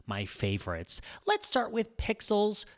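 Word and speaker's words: Pexels: favorites let's start with pixels kind of like pixels but spelt with an e this is one of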